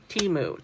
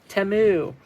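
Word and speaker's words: Temu: Anyho, so um, these all of these containers I did get from Timu. Timu. I keep see I'm still saying it wrong and it's supposed to be timu.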